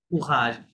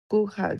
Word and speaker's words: courage: ঠিক আছে, তাহলে ইল মন্থ কারেজ কে কি বলে, ইল মন্থ, স, কারেজ এটাই বলে, হ্যাঁ, ফরাসি স, ফরাসি কারেজ, স্টাইলে উচ্চারণ হবে কুহাজ, কি হবে, কুঘাজ, কুহাজ, হ্যাঁ, সিও টু আর এই কুঘাস, কুহাজ কারেজ।